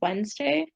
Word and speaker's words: Wednesday: because it was like it's like from the old way to spell it or something like wooden's day i wouldn't say yeah yeah i think that's why there's the random d in it yeah wednesday that's very